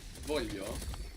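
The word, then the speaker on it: voglio: lot across Italian dialect the G is pronounce like a y here it's soft no so the first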